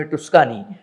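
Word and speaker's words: Toscana: एक जो प्रांत आहे त्याच नाव टस्कानी टी य एस सी एन वाय हे त्याचं स्पेलिंग आहे पण इटलीमध्ये त्याचा टोस्काना असा होतो टोस्काना मध्येच पिसाचा प्रसिद्ध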